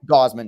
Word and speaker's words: Gausman: Gausman, is that how you say it? Gausman, yeah.